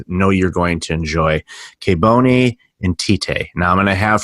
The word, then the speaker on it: Kebone Nthite: Today I've got an awesome guest I know you're going to enjoy, Kebone Nthite. Now I'm going to have her pronounce her name properly instead of the mixed up American Canadian English that I use.